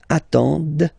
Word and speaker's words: attendent: at the plural form, ENT, but then you don't pronounce them. Ils attendent, okay, so remember you get to pronounce this, the D at the end, okay.